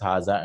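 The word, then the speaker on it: هذا: But they're written without the alif. There's no alif written here, but they're pronounced. It's understood that this is haza. This is not haza or zalika. This is haza and zalika.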